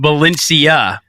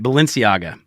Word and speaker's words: Balenciaga: what I'm doing subconsciously I'm combining the Bellagio hotel with Valencia that's what I'm doing what is it is this what is I say it wrong again I'm gonna write it down oh it is close to the Bellagio all right Balenciaga all right Balenciaga I